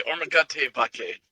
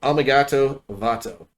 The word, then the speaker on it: Omigato Vato: Let's say Ormagate Vake, if I said it right. No, Omigato Vato.